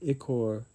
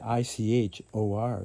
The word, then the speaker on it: ichor: Time will be when ichor, it's the itch. How you pronounce it.